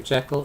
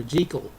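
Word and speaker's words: Jekyll: this is from 1920 these days it would be pronounced Dr Jackal and Mr high but listening to movies that were produced back in the 30s it's invariably pronounced Dr jel and Mr Hyde so I'm going to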